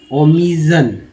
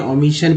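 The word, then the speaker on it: omission: Obsolete, organism, outdoors, overhaul, oriental, outreach, optimise, outsider, overlook, outdated, ओमिजन, ओमिजन है ना। तो यहाँ ओमिजन है, ओमिशन पढ़ेंगे क्योंकि यहाँ पर सन को सन पढ़ा जा रहा है।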